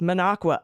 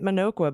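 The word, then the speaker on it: Minocqua: knew it was coming Alaska however manaqua is pronounced manaqua and I just did it right I was calling it manoqua but I just said manaqua okay all right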